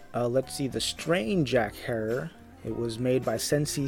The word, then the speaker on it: Herer: cartridge of the infamous Jack Herer pronounced like terror a little history about